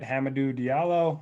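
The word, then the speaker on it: Hamidou Diallo: here at shooting guard tonight yeah another uh pronunciation we need to get right hamadoo diallo um he's been a monster off the bench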